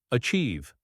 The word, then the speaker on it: achieve: Achieve, achieve. The ch sound is pronounced as ch in cheese.